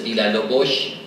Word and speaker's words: Villalobos: In fact, when we look for Portuguese people here in New Mexico, you come up with names like Silva, Vargas, Villalobos, properly pronounced as Villalobos, Tafoya, and Brito.